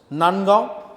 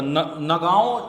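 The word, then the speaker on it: Nagaon: बार okay yes यस नंदगांव medical college नंदगांव हम नंदगांव है ना नहीं नागौन अच्छा नागांव इसको हम अगर प्रोनाउंस करें सही से तो नगांव मेडिकल कॉलेज है ये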